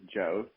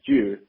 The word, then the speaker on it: Jost: So my last name is Jost, which is commonly mispronounced as Juice.